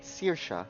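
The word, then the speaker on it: Saoirse: or perhaps something more her name is pronounced CA and means freedom in Gaelic so yeah when we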